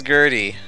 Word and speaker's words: Gurdy: this young man named hery he is also a vital role to the story as well um you may oh actually oh son of a I got his name wrong his name is Gertie oh son of a